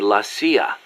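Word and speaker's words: la CIA: Around here they say lassia instead of CIA. Huh. Um, nothing strange about it. That's how it's pronounced when you read it in Spanish.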